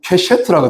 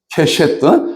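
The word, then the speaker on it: קשת: 찾아봤더니, 무지개가 히브리어로 좀 선배 목사님들한테 미안한데 얘기지만 케셰트라고 하더라고요. 케셰트.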